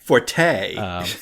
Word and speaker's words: forte: those weird things where the actual correct pronunciation in the sense is Fort um but we are